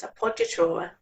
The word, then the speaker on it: appoggiatura: No alternative pronunciations here, it's appoggiatura.